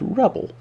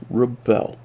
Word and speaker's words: rebel: Is it rebel or is it rebel? Depends how it's placed in a sentence. Is it a noun? In which case it's rebel. Is it a verb? In which case it's rebel. They're pronounced differently.